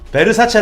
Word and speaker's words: Versace: 10 이게 샤넬이 랍니다 죽죠 4 다음은 꽤 베르사체 볼수 없지 변사체 탄 수 지 아 뭘 어떻게 써요 예 베르사체 라구요 * 사체가 빤스 자가 무슨 뜻이에요 금수저